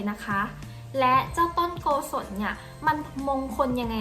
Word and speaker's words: โกสน: คะ ซึ่ง เจ้า ต้น โกสน เนี่ย ดัน มี เสียง นะ คะ แบบ ออก เสียง นะ คะ คล้าย กับ คำ ว่า กุศล ค่ะ เช่น บุญ กุศล